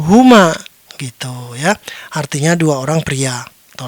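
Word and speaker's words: هما: Baiklah, selanjutnya ada teks seperti ini, jangan bingung, hanya ada satu cara untuk membacanya, "huma", oke.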